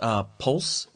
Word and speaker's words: Polce: And it's Nick, I think it's pronounced Polce. It's P-O-L-C-E.